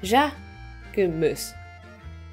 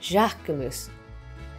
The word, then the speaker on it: Jacquemus: So how do you pronounce it? Jacquemus. Jacquemus.